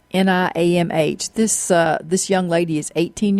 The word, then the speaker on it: Niamh: I think it's Niamh. It's Niamh.